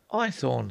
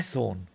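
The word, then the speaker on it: Haythorne: my name is iorn what I asked ithor sir I ethor spell it h a y t h o r n e ithor oh I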